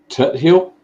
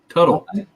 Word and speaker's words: Tuthill: This is, how do you pronounce that county park? Fort Tuthill? Tuttle. Tuttle? Is it Tuttle or Tut Hill?